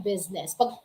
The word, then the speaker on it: business: Kasi karaniwan, akala nila since silenced or hindi binabanggit, hindi pinopronounce yung I sa business after ng S, okay?